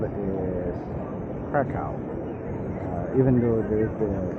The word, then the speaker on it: Kraków: But the real pronunciation is Kraków. Krakow. Sure. It's not Krakow, it's Krakow. Instead of W at the end, it sounds more like an F.